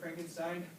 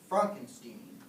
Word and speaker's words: Frankenstein: Frankenstein. That's Frankenstein. I beg your pardon. My name is pronounced Frankenstein.